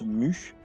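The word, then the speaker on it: μ: Les microampères, avec le U un peu bizarre, hein, ça se prononce mu, mu A majuscule, microampères, 10 puissance moins 6.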